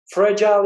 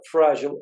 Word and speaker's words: fragile: Fragile ya da fragile, Amerika'da ikinci okunuşu. Fragile, British okunuşu.